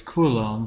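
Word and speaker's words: coulomb: and the symbol for charge we know is Kum Capital C and time is in seconds so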